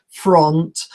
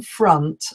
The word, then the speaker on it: front: pronounced is front so the spelling is with an O and most people say front or I live in front of the swimming pool for example but in reality we should be saying front I live in front